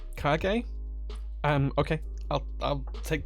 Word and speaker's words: Kage: Timothy's here as well it's it's pronounced cargay kage um okay I'll I'll